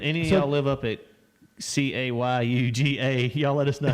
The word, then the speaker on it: Cayuga: used to be unbelievable what okay Yuga yeah Cayuga there you go is it called Hey Yuga it's not pronounced I've never heard that in my life